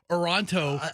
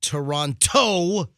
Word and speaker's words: Toronto: happened on the ice yesterday whether it's in toronto or tampa by the way you're not supposed to say toronto like big toe you're supposed to say toronto toronto you're not supposed to pronounce like the second